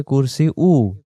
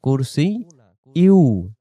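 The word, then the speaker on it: كُرْسِيُّهُ: ওয়াসিআ কুরসিয়ু, আমরা বলি অনেকে কুরসি উ, কুরসি উ না, কুরসি ইউ।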